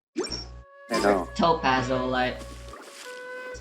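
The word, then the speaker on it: t+pazolite: I suddenly started singing Oshama Scramble from Tipazolite. I Or know. Topazolite. That's how you pronounce his name.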